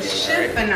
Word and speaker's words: chiffonade: Chiffonade. All right? Am I saying it right? Yes, you're right. Chiffonade.